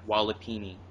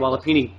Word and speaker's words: walipini: you go um you can spel the it's it's spelled wall w l l i p i n i walipini all right I'm going to look that up